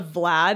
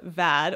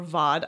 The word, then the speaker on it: Vad: I said Camilla Vlad in the last episode, and I apologize. It is Camilla Vad or Vod. I'm not exactly sure how it's pronounced, but it's not Vlad.